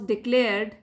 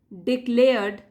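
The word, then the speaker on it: declared: आंख उनका अर्जुन वास डिक्लेयर्ड डिक्लेयर्ड आर साइलेंट है एस डी मोस्ट स्किलफुल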